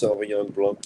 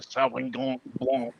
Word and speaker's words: Sauvignon Blanc: You gotta say it like you have a stuffed nose, Yeah, just picture when you have a cold and you can't talk because your nose is all plugged up and Sauvignon Blanc.